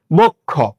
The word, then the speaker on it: বক্ষ: শব্দের শেষে যুক্ত ব্যঞ্জন থাকলে শেষের অ সাধারণত ও রূপে উচ্চারিত হয়। তাহলে এটা তো যুক্ত ব্যঞ্জন এবং এটার ভিতরে একটা অ আছে, তাহলে এটা উচ্চারণে ও হয়ে যাবে।